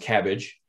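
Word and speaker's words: CABG: underwent this procedure so this acronym is acutely pronounced cabbage between january 1 2008 and december 31 2011.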